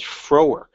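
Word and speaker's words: Frohwerk: Another case decided, I think, a week later was Froerk, F-R-O-H-W-E-R-K, rhymes with twerk.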